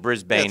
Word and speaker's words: Brisbane: Intern Sam says the pronunciation of Brisbane is Brisbane.